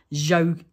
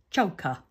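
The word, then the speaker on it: Zsoka: first ever met her i think i called her jo and she's like no it's joker joker something like that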